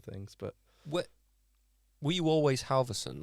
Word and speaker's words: Halvorsen: of Norwegian, Viking language, it's Halvorsen. Oh, Ah. wow. Oh. So, yeah. But Halvorsen, Halvorsen, however you guys